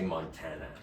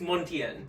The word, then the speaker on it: Montien: oat uh I always I want to say Montana which is kind of suiting to this theme I guess but it's montian montian thank you thank you yeah it sort